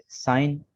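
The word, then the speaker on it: sign: इसके बाद rule number 5 में है G इज साइलेंट इन the following words. दर्ज झेल अल्फाज में G साइलेंट है। साइन, campaign, डिजाइन, रिजाइन, अलाइन, foreign, foreigner, असाइन।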